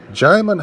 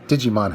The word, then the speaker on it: Djimon: As for the cast, Djimon Hounsou, which I have to fight myself to keep from calling Digimon Hounsou. I don't know why, but it just looks like his name is pronounced Digimon.